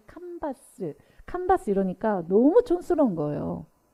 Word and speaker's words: 칸바스: 하는데 어 주님께서 어 미국식 발음 캔버스가 아니라 바스라는 그런 발음을 주셨어요 근데 캔버스는 우리가 직조 천인 가방을 말하잖아요 그근데 왜 바스 그래가지고 너무 이 칸바스 칸바스 이러니까 너무 촌스러운